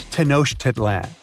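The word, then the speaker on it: Tenochtitlan: Can you pronounce this name of the Aztec capital city? Yes, it's quite difficult to say in English and above my pay grade. Okay. Okay. It's Tanosh Titlan.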